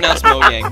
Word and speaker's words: Mojang: Mojang is pronounced Mojang, by the way.